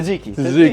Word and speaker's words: tzatziki: Tzatziki.